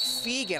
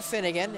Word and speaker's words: Feagan: I don't see him on the floor, but it's Mike Feagan. I've been calling him Finnegan. It's Feagan.